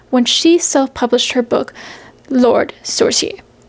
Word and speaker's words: Lord Sorcier: she self-published her book Lord Sorcier, which I believe is how it's pronounced.